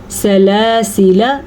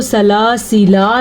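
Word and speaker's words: سَلَاسِلَا: اس گول دائرے کا مطلب ہے کہ یہ الف نہیں پڑھا جاتا. جیسا کہ ہم اس کو سلاسلہ نہیں پڑھیں گے لیکن ہم اس کو پڑھیں گے سلاسلہ، ٹھیک ہے. یہ الف بالکل بھی نہیں پڑھا جائے گا.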